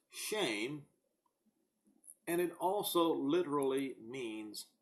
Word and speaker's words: Shem: what does the name Shem mean it is pronounced shame and it also literally